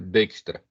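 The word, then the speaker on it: Dijkstra: se escreve dextra Tá mas ele é Holandês e essa conjunção d e j é é falado como Day n então dextra Eh cada roteador armazena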